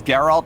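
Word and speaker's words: Geralt: That is Gerald. But it's spelt different, you know, with a J. Right. Yeah, I don't think you really don't know where I'm going. So I know it's Gerald of Rivia.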